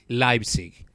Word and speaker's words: Leipzig: Nations in life sake this is a German name that is why it is pronounced pronounced sorry Leipzig so at the beginning